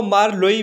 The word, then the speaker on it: Marlowe: Doctor Faustus जो कि एक ट्रेजिक प्ले है जिसे क्रिस्टोफर मार्लो ने लिखा है, इसे क्रिस्टोफर मार्लोई भी पढ़ते हैं।